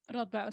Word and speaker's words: Radboud: And she's also a PhD researcher at iHub at is it Radboud University? Is that how you pronounce it in the Netherlands? Radboud, yes. Almost perfect.